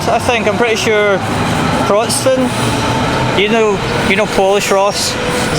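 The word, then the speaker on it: Wrocław: I'm pretty sure Wroclaw. You know Polish, Ross? Is that how it's pronounced?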